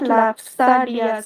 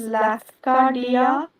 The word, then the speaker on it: Lafcadio: It is not Lapstalia since he is there. Don't pronounce it as Lapstalia. It is Lafcadio Hearn Hearn.